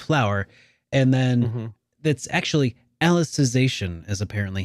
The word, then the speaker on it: Alicization: and then that's actually alicization is apparently how this is supposed to be pronounced because it's reference to alice in wonderland i don't i don't